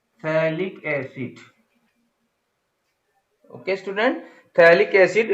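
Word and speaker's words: phthalic: थैलिक acid, यहां पर P silent होता है, थैलिक एसिड, ओके स्टूडेंट।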